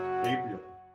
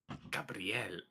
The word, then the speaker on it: Gabriel: my character is uh gabriel gabriel april don't say it like a woman gabrielle don't say it like a weeb you say like a woman's name they said a weeb